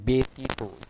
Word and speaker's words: ব্যতীত: ব্যতীত ব্যতীত ব্যথা ইত্যাদি এখানে কিন্তু জফলা থাকার কারণে এখানে ব্যতীত উচ্চারণটা একটু পরিবর্তন হয়েছে ব্যথা ব্যথা শব্দের মাঝখানে